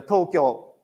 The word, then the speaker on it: Tokyo: For example, tou kyou or tou kyou, but pronunciation is a Tokyo straight.